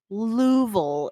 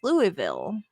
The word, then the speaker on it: Louisville: so like bell brought it up she's from louisville is how they pronounce it i can't forget the way they say it but to me when i see it i think it's louisville or you know something along those lines it's